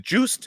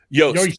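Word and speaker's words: Joost: Inc., Juice is it Juiced? Is that how you pronounce his name? Yost. Pardon me. And I actually think it's Yaz Inc. as well. Oh yeah, okay, yeah, because it's Dutch.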